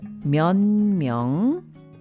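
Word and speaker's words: 몇 명: Myong myong is pronounced myon myong.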